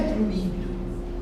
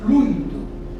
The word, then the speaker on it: fluido: falam mais errado, fluido, aquele líquidozinho que a gente põe no isqueiro não é fluído. Se pô fluído vai pegar fogo antes, é fluido. Aquilo chama-se fluido, né?